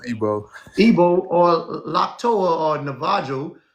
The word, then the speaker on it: Igbo: Igbo is Igbo, pronounced Igbo.